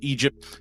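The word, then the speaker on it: EDGP: In high school at Martin Luther King Junior High, Eve joined a female rap group, Ed De GP, pronounced Egypt, and later formed a duo, Eve of Destruction, with a friend.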